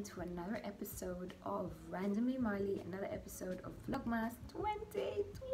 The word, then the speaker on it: Marlie: i introduce myself and i say my name is marley with an r you know the r is like the most important part my name is marley you know and people